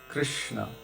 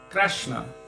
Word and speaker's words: Krishna: where you're from and there are many different pronunciations for krishna when gurudev gave me harinama he said krishna in other places i've heard them say krasna and in orissa because the what we would